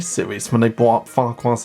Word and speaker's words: Farquhar: And that mistake being Michelangelos' pronunciation of Farquhar, with the silent second F in the name. My favourite station is Farquhar, said Thomas.